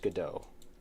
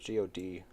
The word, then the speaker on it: Godot: I'm using Godot. Pronounced Godot. It has a silent T at the end. Godot.